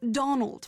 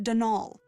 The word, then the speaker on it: Donal: that was the caretaker denial delaney not donald mind you there's no d at the end so it's pronounced denal that's the way you're